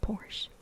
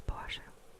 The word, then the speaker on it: Porsche: It's not Porsche. It's Porsche.